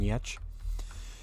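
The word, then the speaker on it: Gertz: the name of yetch it's spelled gerts so if you're looking uh online it's g-e-r-t-z I think but it's pronounced yetch because she's Swedish and you know that's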